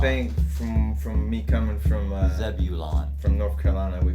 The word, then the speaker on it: Zebulon: think from me coming from Zebulon. from North Carolina, we call it Zebulon. Yeah, you guys leave out letters that are actually there. Yeah, we don't pronunciate the vowels as good as you should.